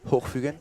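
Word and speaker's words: Hochfügen: How do you pronounce it? Hochfugen?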